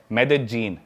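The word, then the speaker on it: Medellín: उसकी एक सिटी है मेदजीन स्पेलिंग में उसमें डबल एल आता है मेदलीन होता है लेकिन कोलंबियन स्पैनिश में ल को ज बोलते हैं तो मेदजीन वो शायद उसकी मेन सिटी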